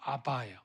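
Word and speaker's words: אבא: 여러분, 신기하게 우리가 아빠, 영어로는 데디인데 아람어도 아바예요. 아바. 우리가 아빠 좀 강하지만 거기는 아빠, 고정 발음이 거의 비슷해요. 아람어가.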